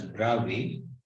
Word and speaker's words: Bravais: two one is called the broadway is pronounced as bravi draw a lattice and the second one